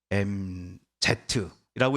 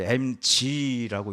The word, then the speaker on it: MZ: MZ라고 읽으시는 분이 아마 저랑 비슷한 분들이실 거고요. 요즘 아이들은 이거를 MG라고 읽더라고요.